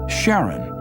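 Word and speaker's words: Charon: Christy suggested the name Karen after the ferryman of Pluto's underworld in Greek mythology but preferred to pronounce it Sharon more like his wife's name Charlene from the Motions of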